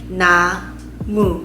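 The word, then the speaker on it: 나무: one vowel per syllable so na has na a that creates the word na and then the next syllable is going to be mu so how do you say and we learn that is going to be the mu and u is the vowel that you're going to use to create the syllable mu so together we can say na mu and that means tree and so this is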